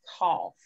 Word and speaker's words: cough: alike and you go and say cough off off cough sounds like an o sound a short o sound so it's cough these are a little